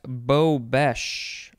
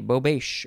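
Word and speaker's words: bobeche: we we are at bo bash or bow beige b-o-b-e-c-h-e noun from 1855 a usually glass collar on a candle socket to catch drippings or on a candlestick or chandelier to hold suspended glass prisms they call it a bobeish or bobesch it is french next is bobo b.o.b.o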